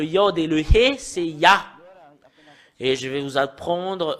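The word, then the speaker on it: יה: Pour Yod et He, c'est... Cela devient I, soit I ou I, parce que c'est AH qu'on le prononce, c'est Yah.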